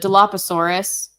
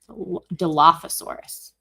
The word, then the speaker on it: Dilophosaurus: No, the Diloposaurus. Um, it was the Diloposaurus in the movie, wasn't it? That's not how that's spelled. Dilophosaurus.